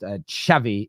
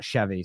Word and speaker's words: Xavi: Someone just told us a minute ago that it's someone here just says it's pronounced Xavi, not Xavi.